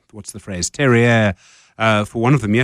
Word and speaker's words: terroir: It's terroir. Very, very peculiar French term.